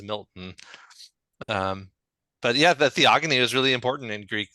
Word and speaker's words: Theogony: in George or right otherwise we always use it as a hard G and not the soft G so um but in any case this is from the Greek and the Greek root would definitely use a hard G sound so it is theogony okay well I am